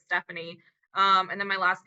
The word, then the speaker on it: Stefani: the rest of life so it's spelled like Stephanie but it's Stephanie um and then my